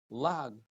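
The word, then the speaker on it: לעג: Rav Papa says lag, even though it's spelled lamed hey gimel, we read it lamed ayin gimel.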